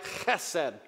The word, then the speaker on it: chesed: I mean, if you were to say it right, chesed, you have to kind of work on that first pronunciation.